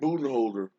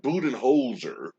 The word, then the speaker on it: Budenholzer: any uh you know the criticism but mike budenholder mike budenholzer ah those syllables should be on the hot seat everybody